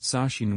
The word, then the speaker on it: Sashin: name is spelled Sashin, my name is actually pronounced Sashin, with the last syllable rhyming with the word keen.